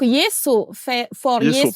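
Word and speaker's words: Yeeso: Ok, donc Yeso, Yeso, ça s'écrit Y-E-E-S-O.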